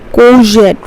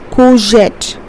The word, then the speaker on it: courgette: Courgette. Remember, R is silent over here, so we pronounce this as courgette.